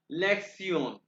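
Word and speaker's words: Lektion: lakes लिखा हुआ है टी आई ओ एन इसको प्रोनाउंस करते हैं सयन लेक्सन ठीक है लेक्सन उसके लेक्सन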